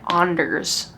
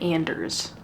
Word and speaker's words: Anders: My brother's name is Anders, so whenever I see that name, I pronounce it Anders, but a lot of people pronounce it Anders.